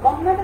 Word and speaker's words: কন্যা: যকারযুক্ত ব্যঞ্জন বর্ণ থাকলে, শব্দের শুরুতে যদি অ থাকে এবং তারপরে যদি যকারযুক্ত ব্যঞ্জন বর্ণ থাকে, তাহলে সেই অ এর উচ্চারণ অ এর মতো না হয়ে কিসের মতো হয়ে যাবে?